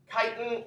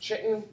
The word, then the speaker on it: chitin: made out of tightening chitin is a different polymer of glucose so it's sort of similar to cellulose but has very different properties i know it looks like it should be pronounced chitten it's pronounced kite chitin